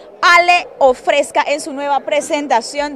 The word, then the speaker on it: Ale: Sprite coca-cola supes Ginger se pronuncia así Ale ofrezca en su Nueva